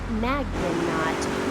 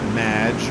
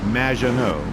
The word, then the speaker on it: Maginot: Magnaut. Welcome to the show. Thanks, Amy. However, you have mispronounced my name. It's Madge, which rhymes with badge, as in duh, and no as in more than you. Maginot.